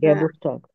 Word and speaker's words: Geburtstag: এই শব্দটার উচ্চারণ বলতে পারবেন? জন্ম তারিখ, Geburtstag. date, হ্যাঁ, গেবুস্টাক।